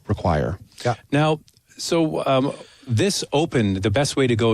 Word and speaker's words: Opn: You should ask for the Oticon Open. Again, it's spelled OPN. We dropped the E so we could trademark it, but the Oticon Open that's what you want to do.